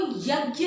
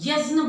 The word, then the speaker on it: यज्ञ: देखें बोलते हुए तो वो यज्ञ नहीं बोलते यजन बोलते हैं यजन यजन बोलने का कारण यही है य ज संस्कृत से आया है और इसका उच्चारण वहां यजन यजन बोलते हैं ज का उच्चारण वहां होता है और ये ज है